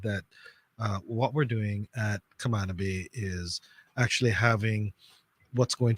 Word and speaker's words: Camana Bay: I always got to say it right. Camana Bay. Oh, that's how you say it? That's supposed to be how you say it. I say Camana Bay. So well, you're wrong, sir.